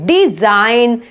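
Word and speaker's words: design: Silent हो गया, direct N बोला है, डिजाइन।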